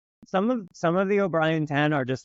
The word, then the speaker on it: O'Brien: with us if it's possible what is that obrien Ted step what what is that how do you how do you pronounce it orrian my my last name is